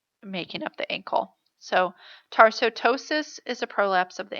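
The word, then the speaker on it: tarsoptosis: Tarsotosis has a silent P in it. It's kind of confusing when you look at the word.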